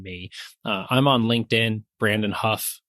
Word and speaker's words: Hough: I'm on LinkedIn, Brandon Huff. Huff is spelled like Hough, like tough.